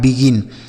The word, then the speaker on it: begin: तो B से पढ़ेंगे बा, और ई का उच्चारण बच्चों आई के रूप में होगा। जी से लिखेंगे ग, आई से छोटी की मात्रा और यन से नौ। यह लिखा है बिगिन।